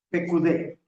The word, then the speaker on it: Pekudé: Se escribe P e K u dq, así como se oye, pero con K. Pecudé y es la parachá número 23 y es toca a Éxodo.